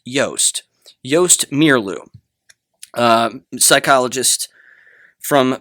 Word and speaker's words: Joost: I've recently come to understand, I believe, I'll probably get it wrong again, but his name is sounds like toast. So, it's Joost.